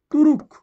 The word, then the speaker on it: তুর্ক: মনে রাখবেন রেফের উচ্চারণ হয় সবসময় বর্ণের আগে আর কারের উচ্চারণ হয় সবসময় বর্ণের পরে। তাহলে রেফ থাকলে এখানে কি হবে, রেফের জন্য র, তুরুক।